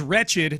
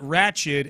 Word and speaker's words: wretched: Sean, the word is wretched, not ratchet, and while we're at it, it's regenerative, not regenerative.